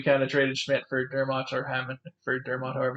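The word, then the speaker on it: Dermott: toronto maple leafs for travis vermont dermot is how you say it sign for a couple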